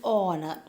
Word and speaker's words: honor: a horse okay an honor i told you though here h is the first alphabet it being silent the it pronounces it